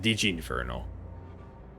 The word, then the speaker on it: Digi Inferno: Is it Digi Inferno or Dig Inferno? I mean, I think you explained it already that it's Digi and Inferno put together. So it should be pronounced Digi Inferno.